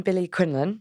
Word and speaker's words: Billie Quinlan: So I am Billie Quinlan, the official pronunciation of my name.